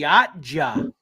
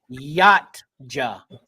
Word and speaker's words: Yautja: They are the Yatja. Yatja. Yeah. One word. One word. Who Two gave syllables.